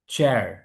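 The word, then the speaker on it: chair: চার চার চেয়ার চেয়ার American র বলছে ব্রিটিশ রটাকে ইগনোর করছে এই রটা মূলত উপরে ছিল প্রিন্ট করার কারণ নিচে চলে এসছে র উপরে থাকা মানের শেষে থাকা মানে ব্রিটিশ ইংলিশে র উচ্চারণটা হবে না। সাইলেন্ট থাকবে।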